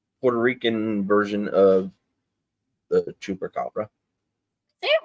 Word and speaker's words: chupacabras: I'm sure Figgy knows a little bit about the Puerto Rican version of the chupacabra. Say it right. It's El Chupacabra.